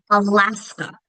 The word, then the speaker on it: Alaska: But, um, let's look at Alaska. Alaska. It's that second syllable that's accented. First and last one are going towah. Arizona.